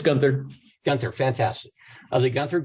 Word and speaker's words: Guenther: Kelly, I am pronouncing that correctly, am I not? Yeah, it's Guenther.